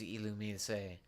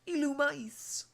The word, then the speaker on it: Illumise: who's gonna be saying, it's not Illumise, it's Illumice. Mice is spelled M-I-C-E. If I were to concede anything, maybe Illumise. But not Illumice. Nah, in that, you are wrong.